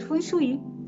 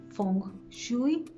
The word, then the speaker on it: Feng Shui: El Feng Shui viene del cantonés y significa viento y agua y se pronuncia Feng Shui. La pronunciación puede variar diferente por los diferentes dialectos, ¿no? En algunos lugares es Feng Shui, en otros lugares, como les comentaba, en cantonés es Feng Shui.